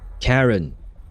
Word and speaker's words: Charon: Ah, wait, I can listen to how it's pronounced. Karen. That sounds like Karen.